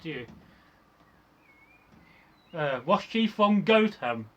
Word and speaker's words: Gotham: Was she from Gotham? I'm actually pronouncing that right now. Gotham. Before I would have said Gotham. No, Gotham.